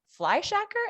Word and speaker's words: Fleischacker: yourself blake fly your real last name is fly shacker am i pronouncing that right you are pronouncing that right